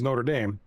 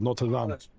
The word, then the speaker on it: Notre Dame: The university is Notre Dame, but in France, it's called Notre Dame.